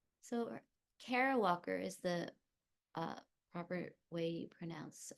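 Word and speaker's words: Kara Walker: and of stasis and of uncertainty l so Cara Walker is the uh proper way you pronounce the artist's name Cara Walker is a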